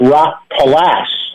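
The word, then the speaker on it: Rockpalast: now called live at rock palast is that how you say it Rock palast and you said it correctly yeah Rock actually it's rock past past it depends how German you want to be yeah and that's from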